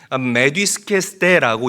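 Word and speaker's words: μεθύσκεσθε: 취한다라는 말은 헬라어로 메디스케스데라고 읽고 발음을 해요.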